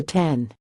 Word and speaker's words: X: manager Ryan Gish said everyone's been calling it the 10 I've called it the X a couple times but been corrected I know it's supposed